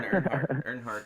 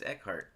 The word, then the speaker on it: Eckhardt: promote your fish story, I was putting Earnhardt the whole time, and it's Eckhardt.